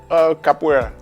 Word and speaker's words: capoeira: You told me you teach capoeira. Pronouncing it right? Capoeira or capoeira? Capoeira.